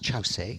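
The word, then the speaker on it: Kyaukse: And the third place, very important for us in our tradition, is Chause. It's spelt Kyorkse, but pronounced Chause, and Chause is what I'll call it all the way through this talk.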